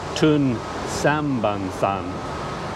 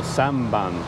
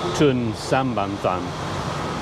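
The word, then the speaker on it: Tun Sambanthan: I often had trouble with this one, Tun Sambansan. I always wanted to say, you know, Samban or Samsan. I forget that there's 3 syllables, Tun Sambansan.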